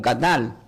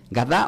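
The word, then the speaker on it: גדל: Esta palabra hebrea, la palabra eh creciendo, la palabra creció del hebreo, se pronuncia como gadal. Sí, gadá o gadal.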